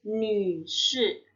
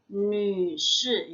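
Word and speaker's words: 女士: Atau Nü Shi. Nü Shi ya, Nü yang mulutnya U keluarnya huruf I ya.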